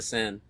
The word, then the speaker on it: Seine: I mean, they had all those triathletes swimming in the, I don't know how to pronounce the name of the river, Seine? the Seine, Yeah.